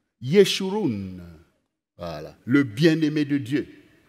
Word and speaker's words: Yeshurun: des enseignements, tu deviens le Yeshurum de l'Éternel. Je ne sais pas si j'ai bien prononcé, chérie, en hébreu. Yeshurun.